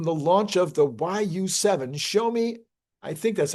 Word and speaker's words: Xiaomi: Now, a few months on from the launch of the YU7, Xiaomi, I think that's how you pronounce it.